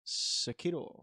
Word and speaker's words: Sekiro: It's Sekiro.